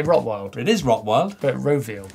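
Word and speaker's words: Rotwild: That's the first time I've ever realised that's how you say it. Rotfield. I always used to say Rottwild.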